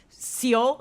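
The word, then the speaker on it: Seol: there were not many sail lights around here I'm just stating a fact yes what are they doing in that seal there's seal is how you pronounce it scheming wow do you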